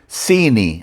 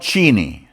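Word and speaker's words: ⲥⲏⲓⲛⲓ: It's pronounced Sini, not Chini, Sini.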